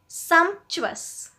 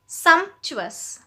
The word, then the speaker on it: sumptuous: Next word है सम्पचुअस। सम्पचुअस, इसकी भी प्रोनाउंसिएशन देखिए, सम्पचुअस।